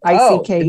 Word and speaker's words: Icke: I can't ever pronounce his name. Is it Icke? Icke? I-C-K-E?